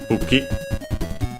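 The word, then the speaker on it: 武器: its accent is on the first syllable, okay, buki, kono buki.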